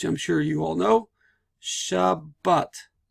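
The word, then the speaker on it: שבת: So it's not Shabbat, it's Shabbat. Meaning that this Dagesh Chazak doubles the sound so that at the end of this syllable, shab, I have a soft B sound. And at the beginning of this syllable, I have a B sound, but.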